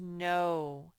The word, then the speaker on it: know: This says no, and it's sort of tricky because you expect the K is going to say k, but KN, when you see a KN, the K is silent.